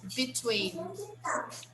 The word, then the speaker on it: between: theaters bedroom between okay pronunciation between between between the second syllable is the stressed syllable between that means that